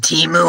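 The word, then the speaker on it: Temu: e m o o like a cow going moo but it don't matter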